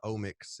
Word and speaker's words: OMX: Yeah, it's like genomics, proteomics, so it's just like the omics is kind of just how it's pronounced. And it's spelled OMX. Yeah, it's spelled OMX. So it's omics.